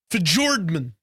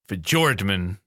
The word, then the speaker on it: Fjordman: It's called, it's pronounced Fjordman. Fjordman. Okay. Fjordman. It's a hard J. Fjordman.